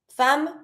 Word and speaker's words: femmes: S is always mute. Fam with the A sound never pronounce the S.